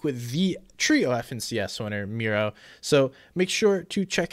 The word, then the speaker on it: Mero: much for joining me it's pronounced miro right yeah like mirror gotcha cool well thank